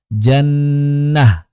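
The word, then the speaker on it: جنة: Contohnya jannatun, maka saat wakaf jannah. Begitu jannatun saat waqaf jannah.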